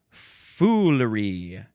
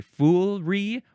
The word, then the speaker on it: foolery: Next is foolery. You can say foolery or foolery, 2 or 3 syllables.